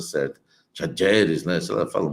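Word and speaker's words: Talleres: questão do Garro, Rodrigo Garro, que era do Tajeres, né? Tajeres, né? Lá estava na Argentina, lá eles estavam, eu estava vendo a pronúncia certa, Tajeres, né?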